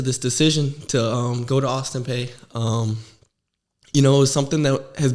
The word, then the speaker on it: Austin Peay: Do you pronounce it Austin Peay? P, no. P? Yeah, P, okay.